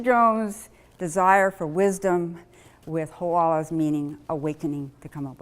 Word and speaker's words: Hoʻala: know how to pronounce Hoʻala, or to remember it, or to even type it because it has the glottal stop and has the kahako over the A, we have to change the name.